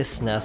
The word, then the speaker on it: SNES: growing up with a snez controller some people say sniffs some people say super and yes some people say SNES